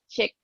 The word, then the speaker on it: Chic: because i've you know people call it sheep because it's spelled c-h-i-c and i've actually had plenty of people tell me that i'm pronouncing it wrong and i'm like oh